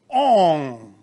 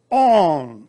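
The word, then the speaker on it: און: is called alef noon it's pronounced on in hebrew on the reality the name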